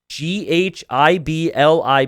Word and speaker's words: Ghibli: name this is bad g h i b l i panda is it like a silent h ghibli yeah ghibli panda thank you